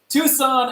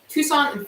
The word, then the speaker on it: Tucson: guys the answer so just a hug no Tucson Arizona is spelled like this and a lot of you